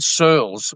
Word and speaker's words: Searles: Sirls. Rhymes with girls. Surls.